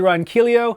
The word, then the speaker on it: Ronquillo: I'm Ronquillo, rhymes with what the dealio.